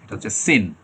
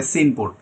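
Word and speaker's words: sing: সিন। আর যদি এই শব্দটা খুঁজতে যান ডিকশনারিতে তখন দেখবেন এইরকম করে দেয়া আছে। এটা হচ্ছে সিং। তখন এটা সিন পড়বেন না। এটা হচ্ছে সিং।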